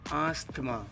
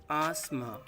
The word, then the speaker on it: asthma: It is not asthma, it is asthma. Asthma. Some people pronounce it asthma.